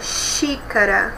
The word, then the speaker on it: xícara: Vamos pronunciar a palavra xícara. Olha, é um som chiado, né?